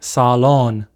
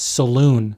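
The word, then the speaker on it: صالون: In Arabic, we say salon, not saloon.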